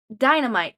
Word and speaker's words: Dynamight: Dynamite, but it's spelled Dynamight.